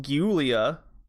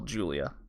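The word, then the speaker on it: Giulia: spelled giu Li a I'm pretty sure it's not pronounced ghoulia and it's just a different way to spell Julia Julia came across as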